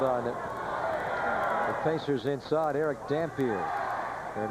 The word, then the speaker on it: Dampier: It is pronounced Dampier. It is not Dampier like Louis Dampier.